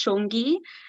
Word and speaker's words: Shongi: Okay, so before I start, I'd just like to say my name is quite easy to pronounce. It's Shongi, so just don't try and break yourself.